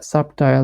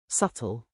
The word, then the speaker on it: subtle: this case h yes subtile difference subtle subtle wow I pronounced I have pronounced it completely wrong subtle subtle subtle subtle